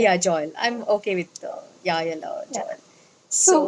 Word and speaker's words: Jael: People would want to know who's Joel. And I think I'm getting it wrong. The J is silent. It's a Hebrew No, name. it's a Hebrew name. The right pronunciation is Yael.